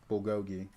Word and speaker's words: bulgogi: It's not bologi. I'm I'm mispronouncing it.